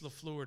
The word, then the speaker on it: LaFleur: So hopefully the management up there and LaFleur, is that how you say it, James? Is it LaFleur? Yep. It's LaFleur to me.